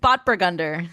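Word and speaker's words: Spätburgunder: Spotburgunder.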